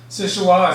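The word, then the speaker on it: Seul Choix: first lit in 1892 sichua is a local pronunciation of french words meaning only choice or soul choice it got its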